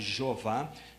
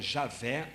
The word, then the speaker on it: Javé: No passado se falava de Jeová, mas mais comumente se entende que é Javé ou Yavé.